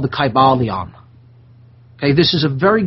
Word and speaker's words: Kybalion: the teachings of hermeticism and it's called the kybalion okay this is a very good primer and